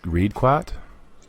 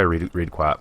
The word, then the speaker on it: Riedquat: Probably Reedquat. That's how that's pronounced.